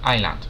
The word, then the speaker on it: island: película de residual ojo se escribe isla pero se pronuncia Island la s es muda de acuerdo vamos a